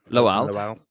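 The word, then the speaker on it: Lawal: Lowell.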